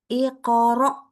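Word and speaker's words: اقرأ: Di sini hamzah sukun. Iqra. Iqra. Nah, langsung. Tidak boleh iqra. Gimana ya bacanya? Kemarin yang salah itu. Iqra. Iqra. Jadi agak-agak semi ain ya, nggak boleh.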